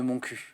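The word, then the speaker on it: Montcuq: Et alors dans le sketch évidemment il dit mon cul mais vous savez que la vraie prononciation de la commune c'est mon cu.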